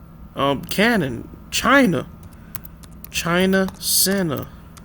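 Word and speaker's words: Qin: Um Canon China Santa right China. My bad. China etmology, right? China derives from the Sanskrit word Senna which likely used to describe the country after the Ken dynasty pronounced Chin, right?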